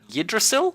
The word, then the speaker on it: Yggdrasil: And the other one is the giant world tree, Yggdrasil, I want to say it is.